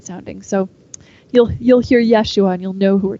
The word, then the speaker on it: Yeshua: Jesus's name is pronounced Yeshua in these stories because that is how it would have been pronounced in his Hebrew heritage his name became Jesus